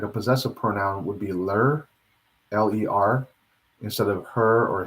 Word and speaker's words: ler: saying he or she, would be Li, and that's spelled L-E. And a good pronoun for like a possessive pronoun would be ler, L-E-R, instead of her or his.